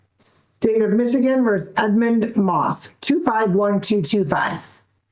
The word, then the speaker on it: Maas: They are on the record in the matter of the state of Michigan versus Edmund Moss 251225. Honor John's book 758 on behalf of Mr. Am I pronouncing your name correctly?